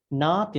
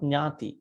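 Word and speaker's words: nāti: Here, nati, not nyati. Nyati means relatives. Huh? Say idam me nyati nang hotu, not nyati.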